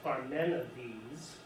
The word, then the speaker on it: Parmenides: 5:15 to 450 BCE it's pronounced for men of these only one works devised